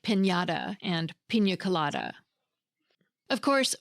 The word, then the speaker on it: piñata: Finally, the tilde is a little wavy line that sits above the letter N and creates that distinctive ñ sound in Spanish words.